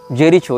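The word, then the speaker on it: Jericho: इसने जेरिको या जेरीचो जो भी इसका उच्चारण उन भाषा में किया जाता हो जे ई आर आई सी एच ओ जेरीचो या जेरिको जहां तक जेरिको होना चाहिए उच्चारण ये फस्तीन का प्रांत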